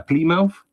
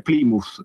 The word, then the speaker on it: Plymouth: Che non si dice Plymouth, come dico io. Se dico Plymouth capiscono subito che questo è spaghetti e si adeguano, ma è Plymouth.